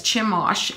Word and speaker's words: Chemosh: I think his name was Chemosh, is how you pronounce it. And yes, Chemosh.